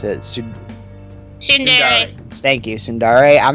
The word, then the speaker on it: Tsundere: I'm not really a fan of Sundere character. I can't pronounce it. Tsundere.